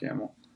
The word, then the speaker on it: Hamill: there like my story uh Mark uh Hamill yeah Hamel I almost didn't say his name because I was like I want to mess that up but it's Mark Hamill yeah dude the X-Men